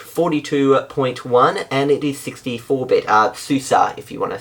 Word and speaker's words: SUSE: Anyway, it's based on OpenSUSE Leap 42.1 and it is 64-bit, SUSE if you want to say it like the proper way, and it uses the GNOME 3 desktop environment.